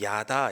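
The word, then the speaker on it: ידה: 드릴 수 있었으면 좋겠습니다 찬양은 예 히브리어로 야다 이렇게 발음합니다 야다 야다의 유다가 나온 거죠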